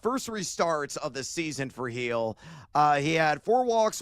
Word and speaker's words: Gil: Uh, it's not Gil, it's Heel is how you pronounce the last name.